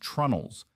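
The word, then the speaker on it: treenails: We drive these joints home using oak pegs called tree nails, pronounced trunnels, that expand slightly when they absorb moisture and contract when they dry out.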